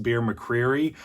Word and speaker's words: Bear McCreary: And then besides that, we have, I believe his name is pronounced Bear McCreary.